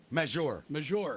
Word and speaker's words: Maggiore: Maggiore.